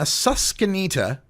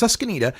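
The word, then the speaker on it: Susquenita: girl uh in Pennsylvania susanita I believe is the way her school is pronounced susanita she's an honor student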